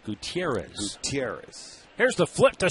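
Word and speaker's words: Gutiérrez: and he said well in Venezuela it's pronounced Gutierrez Gutierrez here's the flip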